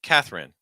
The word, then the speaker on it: Katherine: Helen Helen Helen and Katherine notice that that e is just not even gonna be pronounced typically just completely reduced Katherine Katherine okay Hungary